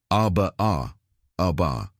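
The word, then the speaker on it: أربع: In fact, from the Arabic root 4, pronounced arba, we derive quarter, ruba,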